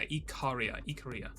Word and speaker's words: Ikaria: It was Ikaria, right? Ikaria or Ikari? Yeah, Ikaria. Whom I assume you've heard of.